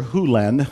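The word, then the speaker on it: Hew Len: Hu Len, I've shortened it from E to Dr. Len, but it's actually Dr. Hu Len, if you want to say his name correctly. In Dr.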